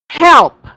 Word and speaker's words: help: There's an L there. Okay. So, I want you to pronounce that. Help. Help. Okay. Uh, this is what I heard. Help. Okay, this is help. Okay, this is help. Help. Help. There you go. Don't forget the L there so that it will